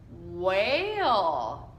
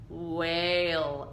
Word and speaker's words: whale: And remember that E at the end is silent, so we don't say it. So we go whale.